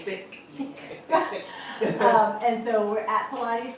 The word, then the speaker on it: Thique: Remember that thick is spelled T H I Q U E thick.